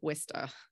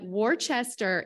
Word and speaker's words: Worcester: Worcester your whole life you may call it Wista so yes um so Worcester Worcester Worcester Worcester are all correct but warchester is not okay anyone caught saying warchester